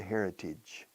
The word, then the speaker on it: heritage: Escrito heritaje, H aspirada. Pronunciada heritage, tige.